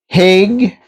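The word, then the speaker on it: Hage: uh the draft and he said that heg rhymes with cage so it's h and cage okay so we're going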